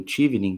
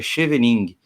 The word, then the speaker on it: Chevening: Para a galera que está ouvindo, o Tivni, que se fala, né? Ele se escreve, leria em português aí de forma errônea, claro, mas em português seria Chevening. Eu vou deixar link aqui na descrição, tá?